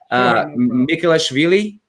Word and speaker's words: Mikhelashvili: to i want to give it a shot nicholas veli perfect perfect pronunciation i'm used to so many different versions